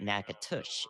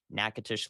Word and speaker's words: Natchitoches: and we are not we are talking about nakatush in uh nakatush in uh Louisiana right so that's a very important distinction because a lot of people want to you know correct us on pronunciation and thus there may be some confusion that Chad that we're not looking at the right area nacotish Louisiana is what we're looking at not Nacogdoches in Texas okay that nakatish is